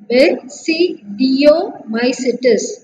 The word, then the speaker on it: Basidiomycetes: Okay, similarly we have to pronounce this as ascomycetes, and here basidiomycetes.